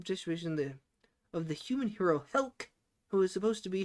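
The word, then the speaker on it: Helck: Yeah, it is Helk.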